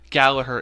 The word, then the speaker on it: Gallagher: Gallagher is the pronunciation. Gallagher is the pronunciation. But it's spelt Gallagher. It is spelled Gallagher.